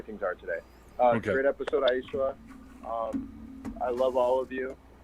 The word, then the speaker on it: Aicila: I'll name a dolphin after you, and her name is pronounced Aicila, and I'm out.